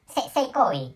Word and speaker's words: 性行為: of Japanese language, so sexual act is seikoi in the pronunciation of Japanese language, and holy act is also pronounced seikoi. And so sex and holy has the same pronunciation.